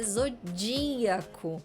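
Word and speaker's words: zodíaco: Zodiaco mas a pronúncia não é exodiaco a pronúncia é Zodiaco Zodiaco a anti penúltima sílaba é mais forte Então tem que ter acento e é óbvio que é acento agudo porque não existe ir com acento circunflexo a palavra trânsito mesma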